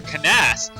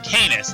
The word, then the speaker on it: Canas: My name is Canis, or Canas. I'm going to pronounce his name Canis. That's how I've always pronounced it.